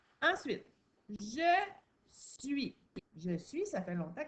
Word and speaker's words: suis: Parce que sinon, suis, on entend tous les sons. S-U-I. Donc, la seule chose que tu dois te rappeler quand tu écris je suis, c'est que ça prend un S à la fin. Un S qu'on n'entend pas, un S qui est muet.